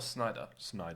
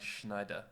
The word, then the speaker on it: Snyder: Like, is it Snyder or Snyder? Snyder. Because I kept on pronouncing it like Schneider.